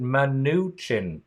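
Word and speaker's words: Mnuchin: that I'm in and you pronounce it man new chin okay if you say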